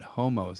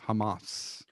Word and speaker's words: Hamas: ass it's it's not it's not homos it's hamas you know what you